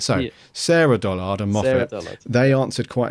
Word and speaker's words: Sarah Dollard: that we've got um we've been saying her name wrong it's Sarah Dollard oh Sarah Dollard why